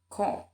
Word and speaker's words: comb: So this the notice B is silent in the word limb, thumb, comb, and in the word that, subtle, and dot.